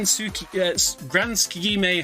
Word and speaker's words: Tsukigime: But yeah, we're off to the Grand Tsukigime Hotel. That is how you pronounce it.